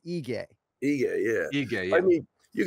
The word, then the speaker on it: Ige: you could see just don't let dominic cruz screw you up on the e-gay pronunciation no i don't even know is it ige nailed it i think people see that eye ken flow right it is ige yeah yeah i mean